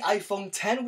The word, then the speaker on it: iPhone X: We've got the iPhone 10, which is spelled with a Roman numeral X.